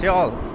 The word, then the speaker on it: Youghal: Thought it was Youghal. Youghal. No, it's Youghal. You think it, like the way it's spelled, do you think it would be Youghal, right, or something? But it's not, it's Youghal, the way you spell it. Or pronounce it, Youghal.